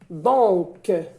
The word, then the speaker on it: donc: Donc, c'est le son K. C se prononce K.